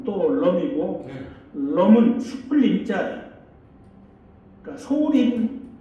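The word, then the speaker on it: Tô Lâm: 그 어 또론 여기 아까 또 람이라고 쓸 수 있었데 또 넘이라 쓰십시오 앞으로 그냥 왜냐면 베트남 발음으로 또 럼이 럼은 수풀 림자 그니까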